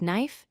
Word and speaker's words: knife: For silent K, remember that K before N at the start of a word is silent. Common words include knife, no, night, kneel, not, and knee.